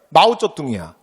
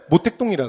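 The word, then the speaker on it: 毛泽东: 그 다음에 중국공산당이라 그러면 중국 발음식으로 하면 마오쩌둥이야. 그래서 교과서에는 마오쩌둥이라고 써 있어. 근데 우리가 한자로 써서 우리가 독음을 할 때는 모택동이라 그래.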